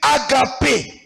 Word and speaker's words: agape: Nous l'appelons en grec agape. Tunaita agape. Agape, comme ça se Agape. Mpaka prononce.